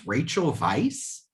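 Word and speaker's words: Rachel Weisz: pronounced is it pronounced rachel vice like a v sound yeah it's spelled with a w but when rob said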